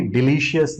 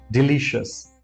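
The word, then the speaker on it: delicious: ही डिलीशियस था यह डिलीशियस नहीं है we call it डिलीशियस डिलीशियस अगर आप चाहे तो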